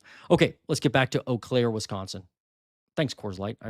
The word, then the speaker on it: Eau Claire: V2, I think, is who asked for this, Eau Claire, Wisconsin. You got to be impressed with me because I pronounced it right, because I've been to Eau Claire several times for work in the past, and